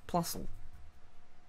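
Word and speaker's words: Plusle: Minun and Plusl. That makes sense, right? Yeah, that's how you pronounce their names.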